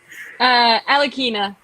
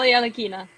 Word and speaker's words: Alekhina: Pronounce it for us. Alekhina, just Alekhina.